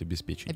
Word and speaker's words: обеспечению: Я думаю, правильно говорить, обеспечению. Обеспечению.